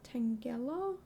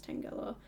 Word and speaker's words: Tangela: Uh, but yeah, today we are working on Tangella. Tangella. Tangela. I looked it up before. I'm pretty sure it's Tangela. Um, I looked up a video pronunciation and it said that way.